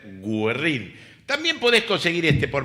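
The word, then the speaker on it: Güerrín: frente a la pizzería Guerrin o Guerrín tiene diéresis, así que debería ser gerrín.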